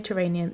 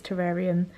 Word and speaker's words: terrarium: uh terrain terrarium they i realize i say it wrong i say geranium it's terrarium i always have said it like that and i can't get out